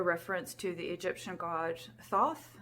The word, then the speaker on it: Thoth: to the Egyptian God Thoth or tote I think it's pronounced and that's at the